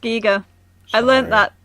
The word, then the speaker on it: Giger: work obviously inspired a lot by H R Giger H R Giger Giga it's pronounced C eager I learned that like in the last 24